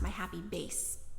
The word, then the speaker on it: My Happy Bass: me this is pronounced my happy base although it's spelled bass like the fish but they said it's pronounced my happy base all right so these